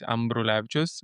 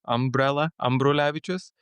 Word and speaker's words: Ambrulevičius: So the first part of it is basically like an umbrella. So it's Ambrulevicius. You just say umbrella, Ambrulevicius.